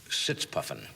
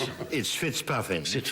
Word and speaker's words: Fitzpuffin: British agent Leslie Sitzpuffin. Actually, it's Fitzpuffin. I'm sorry. It's mispronounced. It was when I was first a young agent, and obviously still being mispronounced.